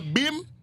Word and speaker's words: BHIM: So when you hear beam, it's a sound that wakens the spirit, the soul, the mind. And it's spelled BHIM.